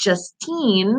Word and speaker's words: Justine: big 24 uh Justine I think it's just teen I think I'm saying that right with the pronunciation which you actually sent it in an email with just and team so yes I said